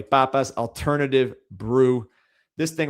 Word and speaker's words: Papas: I'm pronouncing it the Spanish way. Papas alternative brew.